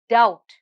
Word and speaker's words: doubt: the silent letter here the silent letter here is b and the word is doubt now come let's have